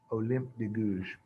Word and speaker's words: Olympe de Gouges: Olympe de Gouges. French is weird. There's a lot of silent letters at the ends of their words. It's just the way it is. English is weird in its way, though, too.